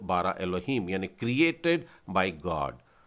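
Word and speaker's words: אֱלֹהִים: ये अलेफ है और नीचे बिंदुओं का जो आकार है वो ए का उच्चारण लेता है। लामेद में बिंदु ऊपर डला है मतलब ये हो जाएगा लो। फिर उसके बाद में है हे, नीचे एक बिंदु है और योद, तो हो जाएगा ही और फिर फाइनल मेम डला हुआ है तो ये हो जाएगा ए लो ही म, एलोहीम यानी कि परमेश्वर।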